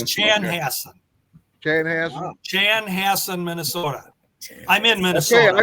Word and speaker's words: Chanhassen: Um let me just correct you on the the pronunciation of the city, Mike. Chan. It's Chanhass. Chanhass. Chanhassen, Minnesota. I'm in Minnesota. I went on Wikipedia and it said and it pronounced it Shanhassen.